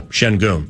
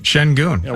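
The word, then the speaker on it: Şengün: oh wait it's sen the sen part is pronounced oh similar to shun but it's shen so yeah shenon shenon I dig it wasn't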